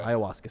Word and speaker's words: ayahuasca: I don't know how to pronounce it, so okay. Ayahuasca.